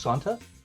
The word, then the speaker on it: Santa: say your name wrong I believe it is pronounced Santa is that correct correct thank you Santa